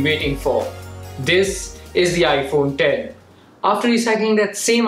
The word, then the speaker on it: iPhone X: which is incorrect similarly the iPhone 10 shouldn't be pronounced as iPhone X now that we have